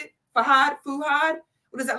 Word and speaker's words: Fuhad: Nigerian what's your name fuad how do you pronounce it fad fuhad what is that like African what are you